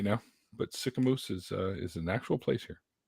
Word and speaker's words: Sicamous: Sicamous. Yeah, don't sick a moose on me. What? It's not quite how it's spelled, but I'm terrified of meese.